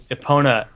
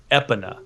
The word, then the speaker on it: Epona: Sissa in weird pronunciations I heard somebody pronounced Epona epaa and I wanted to hit them yeah just let them just let them know that they're wrong tell them that you're